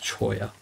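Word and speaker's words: cholla: looks like it's spelled Chola but it's it's pronounced choya but yeah yeah uh right anyway I'm gonna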